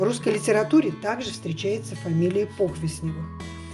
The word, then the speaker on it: Похвистнево: сразу провели его произнести как только не говорят похвистнево похвистнево вы правильно надо говорить по с ударением 1 название города происходит от